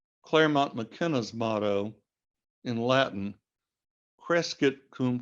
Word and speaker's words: Crescit: McKenna's motto in Latin, Crescit cum commercio civitas, all those C's in a row, which in ancient Latin were all pronounced with a K sound, Crescit cum commercio civitas, that's another example of alliteration.